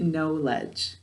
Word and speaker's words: knowledge: the next word is knowledge what's the word good knowledge but knowledge is a two-way word it comes from this base word no so we're going to pronounce it no ledge how do we say